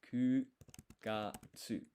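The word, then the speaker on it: 九月: So normally 9, because September is the 9th month, is Q, right? But Ku is what we're using here. Months of the year uses the less popular option, so it's Ku Gatsu.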